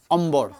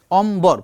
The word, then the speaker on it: অম্বর: যেমন ম এর সঙ্গে যুক্ত হোক মাঝখানে আমি বফলা যুক্ত করব অম্বর অম্বর পুরোপুরি হচ্ছে ব উচ্চারণ দুইটাই হচ্ছে অম্বর মানে আকাশ তার মানে